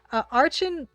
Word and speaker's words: Archon: Archon, there's something really awesome about that game. Really, really awesome. Hard, it's hard CH? Okay, Archon. Archon.